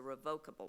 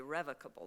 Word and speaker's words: revocable: Most generally, when we talk about estate planning, what we're talking about is a revocable trust, or depending how you pronounce things, some people say revocable trust, okay?